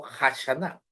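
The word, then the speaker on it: Hashaná: el Roy hanash o hashana porque la H ahí se pronuncia como J Cuándo se celebra el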